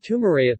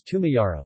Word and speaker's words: tumayara: Iskalira, which means stairs, and Tumaraya, the correct is Tumayara, which means going up.